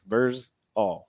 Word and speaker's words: Vrzal: Because if you just pronounce it with what everybody calls me when they just say Verz, then you're just throwing all on the end. Okay. Verz all.